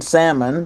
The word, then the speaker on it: salmon: happy new year's are the same people that pronounce the L in salmon.